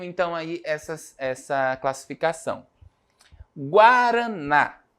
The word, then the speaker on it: guaraná: essas essa classificação guaraná quando eu eu pronuncio a palavra guaraná né Qual é a sílaba mais forte o n né o na É porque tem acento porque tem o acento Professor acento agudo Pode ser né geralmente